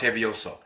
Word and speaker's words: Hevioso: We have one way to pronounce Hevioso.